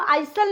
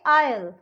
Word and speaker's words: isle: अब इसको हम आइसल नहीं बोलेंगे, इसको हम बोलेंगे आयल, AISLE, आयल.